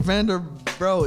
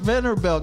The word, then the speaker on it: Vanderbilt: man because it ain't vander brown it's vanderbilt bro look at it it's right here it's vanderbilt bruh it's built it's pronounced vanderbilt not vendor built anybody who's listening who